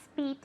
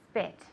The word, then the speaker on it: spit: Now be careful with this because it has a short I sound. It's not speet, it's spit.